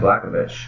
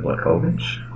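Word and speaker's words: Błachowicz: But if I say it like Blachowicz, that's it sounds a little bit more what's Slovakian. But if you say Blachowicz, that sounds more Polish. It means Polish.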